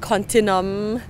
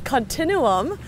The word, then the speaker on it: Continuum: the beautiful Continuum uh we used to pronounce it continum in some of our shoots and then we were we were schooled by the viewers that it's Continuum so here we are